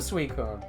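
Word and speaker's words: Suicune: Queen sweet sweet food so I have been pronouncing it right all these years it is a sweet cone yeah okay Libya Libya lugio Lugia celery what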